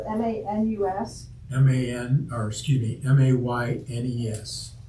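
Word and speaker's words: Maynes: So his last name is spelled M-A-N-U-S? M-A-N, or excuse me, M-A-Y-N-E-S. It's pronounced Manus.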